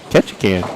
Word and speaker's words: Ketchikan: Ketchikan, like a can of corn?